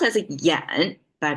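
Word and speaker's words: 㫃: parts things a lot simpler simply a it's pronounced as a Yen but it's not part of today's lingo anymore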